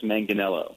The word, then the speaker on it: Manganiello: This is Manganiello. Manganiello. There you go. I am a horrible pronouncer.